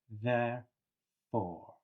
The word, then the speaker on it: therefore: Now, let's just remember the th voiced sound at the beginning of a word is usually quite strong. So, you'll really feel it here and also between your teeth on your tongue.